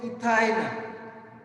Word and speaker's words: ethyne: While pronouncing, how to pronounce it? Ethyne.